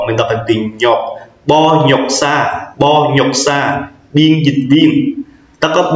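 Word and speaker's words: 번역사: mình sẽ đọc là Bo nhọc sa, biên dịch viên. Mình sẽ đọc nối lên là cái chữ N, nó sẽ nối với từ nhọc, mình đọc thành từ nhọc. Bo nhọc sa, biên dịch viên.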